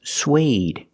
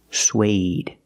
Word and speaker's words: suede: pronunciation and this word is suede it has the long a sound suede today we're practicing with